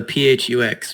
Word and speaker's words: PHUX: I yeah we like to call it the pH ux but yes you can create okay phux right